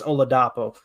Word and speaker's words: Oladapo: We know it's Oladapo for the last name.